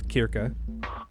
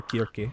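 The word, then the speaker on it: Circe: I think I've mentioned how her name's actually pronounced. It's Kirka or Kirki, I believe, but uh, it's often translated as Cersei.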